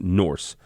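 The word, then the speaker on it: Norxe: the map and uh it's a company called Norse uh it's spelled no o rxe but you pronounce it Norse um it's from Norway and it's a a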